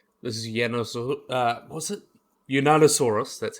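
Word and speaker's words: Yunnanosaurus: Unanosaurus.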